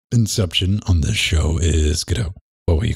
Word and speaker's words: Godot: We'll call it Godot, but you got to get rid of the insect. Like, fine. I mean, I've read Samuel Beckett plays before, so I know how it's pronounced.